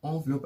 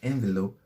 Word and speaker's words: envelope: to the next word envelope envelope now it's pronounced envelope and not envelope because it's a french word the word of